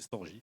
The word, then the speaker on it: Storj: Tout à l'heure, j'ai mal prononcé Storj, j'ai été storage, c'est Storj. Donc, je précise.